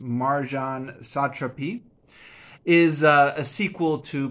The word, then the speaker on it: Marjane Satrapi: of a return by I believe this is pronounced Marjan satrapi is uh a sequel to ppus one and